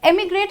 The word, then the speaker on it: emigrate: First of all, emigrate has a small E sound like this and immigrate has a small I sound.